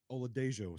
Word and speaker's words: Oladejo: Uh but what Oladejo, sorry, I think according to my trusty pronunciation guide, we do pronounce the uh the J there.